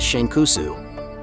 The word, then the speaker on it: Shanks: if you know that the Japanese pronunciation of his name is shankusu before of the four